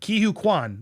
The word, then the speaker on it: Ke Huy Quan: And so out of nowhere, the likable, sorry, I'm still learning how to pronounce it. Ke Huy Quan.